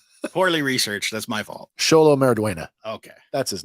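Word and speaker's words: Xolo: Sholo Mariduena. Okay. That's his name. And hopefully I'm pronouncing that right, because it is spelled with an X.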